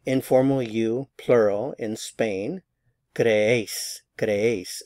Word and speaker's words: creéis: Creéis, creéis. So there are two syllables here. Cre and ace. So the stress is on this syllable because we have the written accent mark.